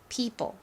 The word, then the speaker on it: people: simple처럼 p l e 이렇게 써 주시면 됩니다 people 자 다른 부분은 어렵지 않은데 여기 이중 몸이